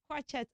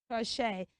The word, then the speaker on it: crochet: into English language and they have their ET ending sounding a and not a I want to believe you have learned those words and their right pronunciation and you're going to use them in your everyday communication please ensure you do that don't let me hear you say crochet again you should say what crochet now let's see if